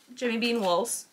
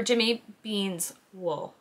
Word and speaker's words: Jimmy Beans Wool: But yeah, so that was Jimmy Bean Wools, or Jimmy Bean's wool.